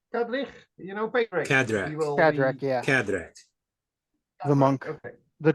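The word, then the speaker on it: Cadrach: in that sense um uh how do you pronounce names uh that's FR frier father Kadri Kadri you know patri kadra kadra yeah kadra the monk the drunken monk uh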